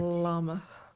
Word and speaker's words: Llama: llama thing adapt it you have to pronounce both else that's incorrect llama now this story uh